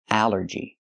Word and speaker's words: allergy: like ball and call, but here it makes the a sound. The short a like an apple and black. A allergy. It's three syllables. Allergy. The stress is on the first syllable.